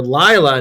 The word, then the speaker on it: Lila: I am playing the character Lila, not Layla, Lila. Rhymes with Smila. I don't know. That doesn't help. But it's not Layla. It's Lila.